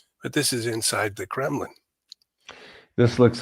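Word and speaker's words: Кремль: They have five churches inside the Kremlin. And of course, yeah, Kremlin just means fortress.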